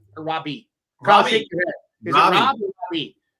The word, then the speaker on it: Raabe: a long time, but I guarantee I've called him Raabe. Robbie, I guarantee I butchered that name before.